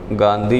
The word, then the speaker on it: गांधी: अक्षर क्या है ना तो यानी बिंदी की जगह आप क्या लिख दो ना तो गांधी इसका उच्चारण क्या हुआ गांधी यह तो सही है ठीक है तो यानी